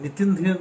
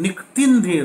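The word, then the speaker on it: Nikitin Dheer: आजकल नामों में बड़ा चेंज होता है, नितिन धीर नहीं है, निकतिन धीर है।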